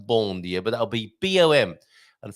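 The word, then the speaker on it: bom dia: be a Bo B B I know it's pronounced bondia but that'll be boom and forgive me for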